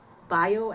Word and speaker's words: Bio: spray with hyon and boo aloe vera I mean bio aloe vera bio is the German pronunciation um and I I